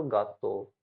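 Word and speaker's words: gatto: एक चीज ध्यान रखना, अगर जी के बाद में या तो ई आ गया या फिर आई आ गया, तो ये पढ़ा जाएगा जय। जैसे जैम, जाम। अगर जी के बाद में ई आ गया या आई आ गया तो ये पढ़ा जाएगा जाम, वरना अदरवाइज ये ग पढ़ा जाएगा।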